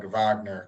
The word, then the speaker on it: Wagner: Brothers har yeah it's pronounced more with like a V like Vagner because it's German Vagner okay yeah yeah